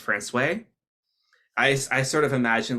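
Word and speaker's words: François: Because a lot of you are probably saying Francois, and in fact, that is the incorrect pronunciation, because in Newfoundland, a lot of French town names slowly became anglicized.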